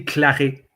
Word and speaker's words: Claret: Or It will be Claret. Claret. Oh, Claret. Claret. Do you enunciate the T, or is it silent? No, it's silent. The T is silent. So Claret.